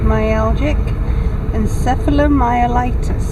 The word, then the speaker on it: myalgic encephalomyelitis: found out I mean the whole thing is pronounced myalgic encephalomyelitis I have to listen to it the pewter